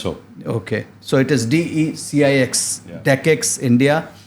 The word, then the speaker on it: DE-CIX: I hope I'm getting the pronunciation right. Yes, sir. Very much so. Okay. So it is DE-CIX, DE-CIX India.